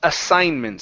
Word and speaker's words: assignments: This big word right here is pronounced assignments. So the G is silent.